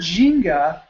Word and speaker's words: Ginga: do on a consistent basis, because the word Ginga, pronounced Ginga, technically, it's G-I-N-G-A, the Ginga life.